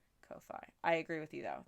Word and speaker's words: Ko-fi: How is it not pronounced coffee with that logo so confusing?